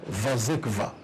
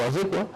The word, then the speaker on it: Wazekwa: Mais tant que le classe, on a prononcé Vazekva. Ils ont dit la polonais, ils ont dit la russe, donc il y a Europe de l'Est.